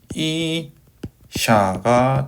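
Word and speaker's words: אִשָּׁה: 이음절 같은 경우에는 sh 발음에 카메치 그 다음에 해 같은 경우는 발음이 없죠. 그래서 샤가 돼서 이샤가 됩니다. 이샤 여기 이제 여자 뭐 이런 뜻입니다.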